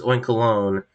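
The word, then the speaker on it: Oinkologne: it oink colone cuz it looks like it's spelled like baloney even though I know it's oink colone cuz it's like cologne I know that not stupid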